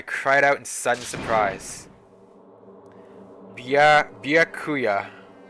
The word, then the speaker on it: Byakuya: Byakuya. Like Kia or Nya? Yeah, Bia. Right? Bia, Kia, Nya. Byakuya. Don't pronounce the E? Yeah.